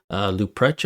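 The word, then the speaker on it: Leuprecht: Yet, in yesterday's video, we had the Royal Military College professor, Christian Luprecht, I believe is how you pronounce his last name.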